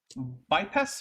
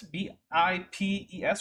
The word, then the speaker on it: Bipes: So, for anyone who wants to look this up, the generic name is Bipes, B-I-P-E-S, or Bipes, I don't care how you say it, but they are kind of adorable, and they only have 2 legs.